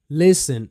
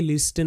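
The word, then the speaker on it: listen: walk এল এখানে silent লিসেন এল আই এস টি এন এটা অনেকেই লিস্টেন বলবে লিস্টেন কিন্তু এটা টি সাইলেন্ট লিসেন টি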